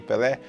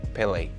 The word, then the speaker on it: Pelé: E o título do vídeo é Why Pelé is Called Pelé. Algumas pessoas em inglês pronunciam Pelé, né? Pelé. Não tem muito ué, né? Como a gente fala aqui.